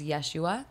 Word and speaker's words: Yeshua: we refer to Jesus we use his original pronunciation of his name with is which is Yeshua so you'll hear that